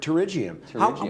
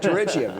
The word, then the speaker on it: pterygium: I love this word, pterygium. Where else do you get a silent P in the English name?